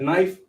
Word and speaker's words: knife: That's why they have a word like knife, but the K be silent.